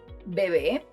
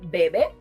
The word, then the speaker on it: bebé: Bebé (baby) Café (either coffee or brown, depending on context) In this case, both words end with a vowel and the stressed syllable is the last one. Changing the stress would result in Bebe, which has a different